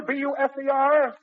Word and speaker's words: Buser: Now, Minnie, the name, madam, is that, Buzzer, B-U-S-E-R? Buser. Buser. Oh, I spelled it correctly. I probably mispronounced it. I'm sorry. Buser is correct.